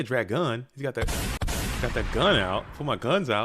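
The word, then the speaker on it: Dragun: I call him Dragoon is it drag gun uh that's how I think it's supposed to be pronounced because Dragoon is a real word and the Dragoon is someone that kills dragons ah very mythological over here I just say Dragoon because it sounds like goon I just call him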